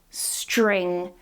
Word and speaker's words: string: the start of words, this is pronounced in a similar way to what we did with T and R, so string becomes string, so we're not changing the S, the S stays the same, but the T and